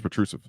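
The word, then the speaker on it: Petrušev: I used to say Petrusev. It's Petrusev. I watched him play for Olympiacos in Greece, and the announcers who are European pronounce his name Petrusev.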